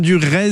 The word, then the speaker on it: Durez: Avec vous également, Anne Durez, c'est comme ça que ça se prononce.